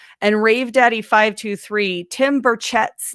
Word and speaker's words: Burchett: And Rave Daddy 523, Tim Burchett's name is pronounced Burchett.